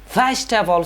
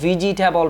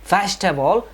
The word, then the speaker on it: vegetable: ဆိုတဲ့ဆရာမှာ v g ဆိုတာဒုတိယမြောက်အတန်ဖြစ်တဲ့အဲ့ဒီဒုတိယမြောက်အတန်ထဲမှာ e ဆိုတဲ့စကားဒီ alphabet လေးကိုကျွန်တော်မြုပ်လိုက်တယ်ဆိုလို့ရှိရင်တော့ vegetable ဆိုတဲ့အတန်ထွက်အမှန်ထွက်လာပါတယ်အဲ့တော့အတန်ထွက်အမှားကတော့ vegetable ဖြစ်ပြီးတော့အတန်ထွက်အမှန်ကတော့ vegetable ဖြစ်ပါတယ်ဒုတိယမြောက်စကားလုံးက favorite ပေါ့နော်နှစ်သက်သောအဲ့တော့နှစ်သက်သောဆိုတဲ့ဒီစကားလုံးမှာ f a v o favor